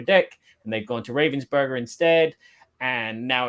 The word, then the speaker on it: Ravensburger: with the Upper Deck and they've gone to Ravensburger instead.